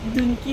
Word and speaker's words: Dunki: तो movie name we were pronouncing it wrong, डंकी नहीं है एक्चुअली, डंकी है which means to hop from place to place ना, एक जगह से दूसरा जगह जाते हैं।